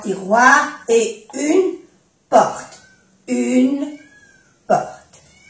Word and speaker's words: tiroirs: 3 tiroirs. No se pronuncia la S porque la S marca plural, ¿eh? 3 tiroirs et une porte.